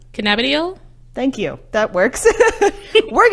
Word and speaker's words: cannabidiol: say THC because I'm not gonna try and pronounce that again and then the other one is CBD which aka cannabinol cannabidiol cannabidiol thank you that works we're gonna say CBD